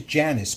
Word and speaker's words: Janis: Her name is Janice, but it's spelled funny. Janis.